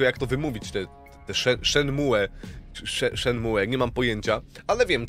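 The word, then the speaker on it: Shenmue: do szedł szedł mu mówisz tak czyta się szenmu Mówisz teraz codziennie na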